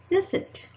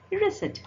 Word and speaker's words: receipt: P can also be silent in words like receipt. What is it? Receipt.